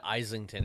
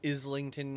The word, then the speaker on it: Islington: is I don't care I said isington or something like that is it's supposed to been Islington or something I don't know you